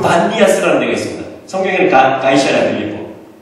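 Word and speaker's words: Banias: 판신이라고 하는데 그 반디아스라는 데가 있습니다. 성경에는 가이샤라고 있고 가보신 분 계세요? 네, 한번 가보세요. 거기가 그냥 판신전이에요. 이게. 근데 아랍 발음으로 피 발음이 없어가지고 B가 된 거예요.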